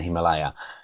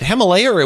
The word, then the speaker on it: Himalaya: documentary you mentioned in the Himalaya is it Himalaya would it be in the Himalayas well actually it's Himalaya which I've recently discovered we are all pronouncing it correctly okay so so I think